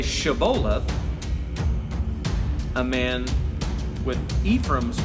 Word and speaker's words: Shibboleth: a cereal fruit, but the Ephraimites couldn't pronounce the Hebrew letter Shin. So where a man of Gilead would say Shibboleth, a man with Ephraim's pronunciation and dialect would say Sibboleth.